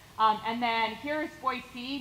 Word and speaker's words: Boise: and then here is Boise notice the soft s and the lack of the Z sound um which is how you actually pronounce Boise uh so we're going